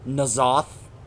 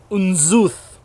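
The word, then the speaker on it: N'Zoth: So I love how they portrayed, whether you want to pronounce it Nazoth, which is how Xalatath pronounces it, or Unzuth, or Unzoth, because that's how the Kathraki pronounce it when you do the Dragon Soul raid.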